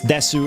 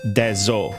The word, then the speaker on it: Dezo: No, it's Desu as in death. Desoris and Desolians are spelled with Dezo. Dezo. Not Desu.